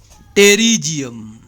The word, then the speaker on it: pterygium: टेरिजियम P silent है दोस्तों।